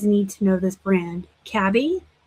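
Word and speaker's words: Cabi: And you guys need to know this brand, Cabby. That's how I say it. I've heard people pronounce it Cabby.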